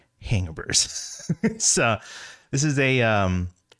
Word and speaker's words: Hangaburs: and that is you heard that right it's pronounced hangabur so this is a um a popup uh